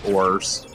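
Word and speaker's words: Oars: She does do stuff in the fight with Oz, but I still call him Oz, even though the official pronunciation is apparently Ors.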